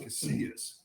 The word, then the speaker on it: Casillas: into college at Oklahoma, the pronunciation was different where I live. It's more like an Anglo neighborhood, and it was more pronounced, more kind of Anglo type of pronunciation. And so when I go to my grandfather's house, my other uncle, it's pronounced Casillas.